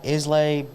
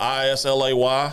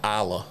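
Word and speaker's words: Islay: Brook lot eight-year-old uh Isley barley 2013. this is spelled i-s-l-a-y yes so I'll give you a hint in the scotch world that's pronounced Isla Isla it's a Isla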